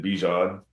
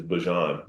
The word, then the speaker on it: Bijan: Um, and I just said like, I pronounce it Bjan, but my mom, you know, her pronunciation for it is is Bjon.